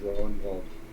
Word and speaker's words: Ragnvald: it's pronounced Ronvald. Okay. Then I was incorrect. Thank you for the correction.